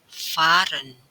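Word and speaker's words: fahren: namun perlu diperhatikan kalau H Itu posisinya terletak di belakang huruf maka h tidak dibaca tidak dilafalkan melainkan huruf vokal yang ada di depannya itu yang diperpanjang contohnya pada kata Fahran tulisannya Fahran tapi membacanya Faren artinya mengendarai atau mungkin juga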